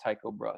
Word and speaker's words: Tycho Brahe: Tycho Brahe spoke with Tycho Brahe pronounced Tycho Brahe so keep that in